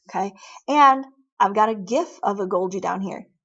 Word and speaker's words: GIF: me like it is gif don't tell me it's no gif i don't give gifts to people at christmas no it's graphic image file that's a hard g it's not that j nonsense okay you know don't